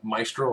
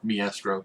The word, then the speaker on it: Maestro: going to pick probably Maestro Hulk to take on or mestro depending on how you want to pronounce it was going to be